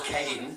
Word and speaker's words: Kane: You can only pronounce my name as Kane.